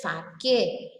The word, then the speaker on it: sake: What is it, sake? But the spelling here is S-A-K-E. But the pronunciation, what I am saying is sake.